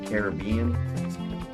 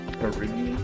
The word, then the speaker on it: Caribbean: You know, there are buried wrecks still to this day, shipwrecks all over the Caribbean, or otherwise pronounced as the Caribbean, where many pirating activities took place approximately 400 years ago.